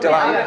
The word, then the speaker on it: DeLand: Is that how you pronounce it? Deland?